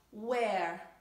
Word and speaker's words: where: Where è una E più aperta rispetto a were.